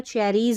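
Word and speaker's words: cherries: सी एच का उच्चारण च रहता है, नोट डाउन कर लें। च, फिर यहाँ पर है ए करके ई का उच्चारण च, च ए, और डबल आर का उच्चारण र रहता है, र, फिर ई ज का उच्चारण लास्ट में एस के लिए। तो चेरीज हो गया, सी एच ई, चे,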